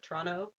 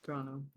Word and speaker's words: Toronto: kind of like in Ontario, Toronto, like only people from outside of Toronto pronounce the second T in Toronto, Yeah. like me, but people who are from there call it Toronto. Mm-hmm. Yep, Toronto.